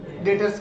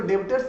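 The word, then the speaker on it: debtors: इंसान मेरा क्या कहलायेगा डेट्स कहलायेगा मतलब उससे पैसे मुझे रिसीव करने हैं डीटीओ आर इसको देबटोर्स नहीं पढ़ेंगे बी साइलेंट है इसको क्या पढ़ेंगे हम लोग डेट है उसके बाद हम लोग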